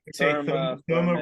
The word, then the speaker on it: Therme: Therme rhymes with Burma, you know, that's the Therme.